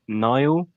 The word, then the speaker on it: Niall: your name nal or neil which one is it well it doesn't seem to matter what i say because everyone calls me neil but my name is pronounced niall okay like the river yeah niall we we